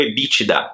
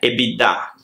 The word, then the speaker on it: EBITDA: b para o primeiro na pronúncia aqui no brasil é muito comum nos falarmos o ebitda enquanto o ebitda da empresa se você estiver falando com um estrangeiro a pronúncia para a pessoa entender melhor é ebi da equipe significa e dá